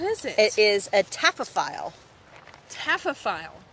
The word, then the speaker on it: taphophile: It is a taphophile. Taphophile. How do you spell that?